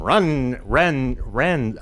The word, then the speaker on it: Rennes: I know they have their own pronunciation. Ren. I would say Rennes or Rennes, but I'd be totally wrong.